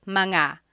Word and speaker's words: mga: And then technically when you when you want to make something plural, you have to add the word manga. So, mga anak kids.